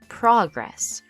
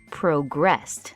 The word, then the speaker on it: progress: know it's a thing and I need to pronounce it as progress. But, over here we're using it as the action. It is a verb. So, here work on the new bridge progressed.